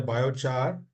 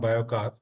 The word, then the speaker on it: biochar: which is the India biochar and bio resources Network Nina it is biochar not biocard oh make sure pronounce it in correct way sorry for that biochar